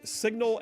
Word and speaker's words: Cygnal: John Rogers, Signal Analytics. That's spelled Cygnal, Signal Analytics.